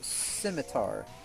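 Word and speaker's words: scimitar: saying I I said no bro it's it's pronounced simitar he said well then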